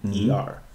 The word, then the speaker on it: Niger: It's spelled here Niger, but the pronunciation is putting Neeger.